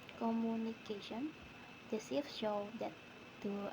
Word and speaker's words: communication: In the base word communicate, the primary stress falls on an earlier syllable, but when the suffixation is added, the stress moves to the syllable immediately before the suffix. This change results in the pronunciation communication.